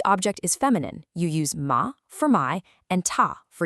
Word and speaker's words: ma: But for the feminine ma and ta, your mouth opens wide and flat, ma, ta.